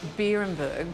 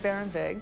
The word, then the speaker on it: Beerenberg: barenburg we pronounce it barenberg because it's a loose translation of the German words barenburg meaning Berry Hill or Berry Mountain so we pronounce it barenberg because that sounds more like the German pronunciation well I have to